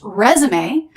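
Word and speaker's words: résumé: But it's also pronounced resume, and it means a document of your work experience.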